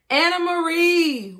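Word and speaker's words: Anamaria: A-N-A-M-A-R-I-A. Yeah. Oh, wow. Anna Marie. Wow. Like Anna Marie.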